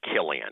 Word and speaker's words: Cillian: But it's pronounced Killian. Killian. Killian Murphy. Murphy. Yeah. But it looks like Cillian.